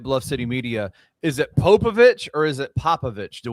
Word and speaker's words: Popović: Is it Popovich or is it Popovic? Do we know? It's Popovich.